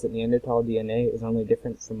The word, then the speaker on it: Neanderthal: thought did this research I thought it was pronounced Neanderthal but of course it's pronounced neander Wikipedia says that neander tal DNA is only different from Modern human DNA